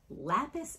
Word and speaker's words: Lapis: How do you pronounce that? Too much. Right there. Lapis? Lapis, L-A-P-I-S.